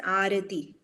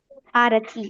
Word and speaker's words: Arathi: of her pronation okay my name is pronounced as arti arti okay yeah thank you